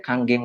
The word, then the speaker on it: Kangen: Makanya kalau orang yang belum tahu, belum lihat edukasinya, biasanya ngomongnya masih kangen. Jadi sebenarnya ini dibacanya adalah Kanggeng. Ya. Jadi kalau di Jepang itu, huruf N itu dibacanya jadi ang.